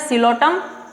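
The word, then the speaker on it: Psilotum: इसमें एग्जाम्पल याद रखना, सिलोटम, P silent, सिलोटम, Lycopsida में लाइकोपोडियम, ऑल्सो सिलेजिनेला।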